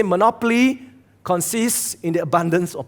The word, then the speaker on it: Monopoly: Okay, I ask you to do that because I don't know why all Singaporeans pronounce it as Monopoly. Okay? Really? But it's Monopoly. And the purpose of Monopoly is simple.